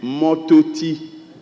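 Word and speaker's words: Mortoti: Miss Yvette is written here, Mototi. It's supposed to be Mototi, which translates a tree by the roadside. Mototi. Then again, okay, it's spelled M-O-R-T-O-T-I. Mototi.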